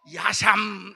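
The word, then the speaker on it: אשם: 이 속건제라고 하는 말은 히브리 말로 야샴, 이 발음이 좀 야샴이에요.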